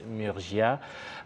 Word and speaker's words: Murgia: dans nos studios nous sommes avec euh Fabrice Murgia euh j'espère que je prononce bien votre nom tout à fait voilà